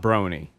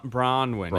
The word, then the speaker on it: Bronwyn: It's not Brony. Her name. Yeah. Her name. It's right. I don't want to say it because she's going to She'll chastise me on Twitter. How do you say it? I would say isn't it Bronwyn?